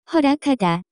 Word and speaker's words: 허락하다: The pronunciation of this word is closer to 허락하다.